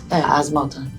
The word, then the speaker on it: Asma Al Thani: My name is Asma, and you spell it as A-S-M-A. My family name is Al Thani, A-L-T-H-A-N-I. Asma Al Thani.